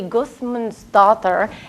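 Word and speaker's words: Guðmundsdóttir: Her last name is actually Gudmundsdottir. And this symbol here, the theta, is pronounced like a T-H. It looks like a D with a line through it but is pronounced like a T-H.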